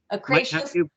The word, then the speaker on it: ochraceous: But there's this, how do you pronounce that, Sam? Ochreus or ochreus? Ochraceous? Ochraceous.